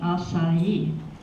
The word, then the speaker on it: Asai: were known as the assignees which is the pronunciation of my family name acai so my great niece is a lawyer Portman